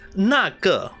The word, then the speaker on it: 那个: For Chinese word, like, when they say that one, is really, it's pronounced as 那个. But dude, it sounds like the M word, but it doesn't mean it is an M word.